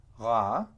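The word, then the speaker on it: רַע: It's basically, it's two words that are spelled the same but they're pronounced differently and they come from different verbal roots, but they're very closely related. So here we have ra, spelled reish ein, and that means evil.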